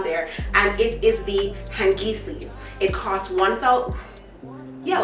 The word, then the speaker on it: Hangisi: put that on there, and it is the Hangisi.